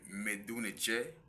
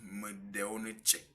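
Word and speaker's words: mdw nṯr: Quand on parle de parole sacrée en Égypte antique, parlant de Medunetche, nous avons montré et démontré que cela se prononce Medeonetche.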